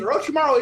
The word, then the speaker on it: Orochimaru: Before we get to this, is Orochimaru Young Thug?